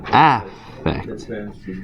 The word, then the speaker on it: affect: So you notice the spelling is different and the pronunciation is also a little different if you try saying them. So effect and then affect.